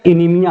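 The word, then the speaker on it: anemia: हैं उनको बोलते हैं एनामिया की प्रॉब्लम हो, इनीमिया। ठीक है, एनामिया कहते हैं उसको, सही प्रोनाउंसिएशन इसका इनीमिया है। ठीक है, तो इसको इनीमिया कहते हैं।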